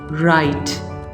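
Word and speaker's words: write: जैसा कि यहाँ पे आप देख रहे हैं, जहाँ W R यहाँ पे इस तरह से होंगे तो आप कहेंगे राइट, राइट, नॉट राइट बल्कि राइट।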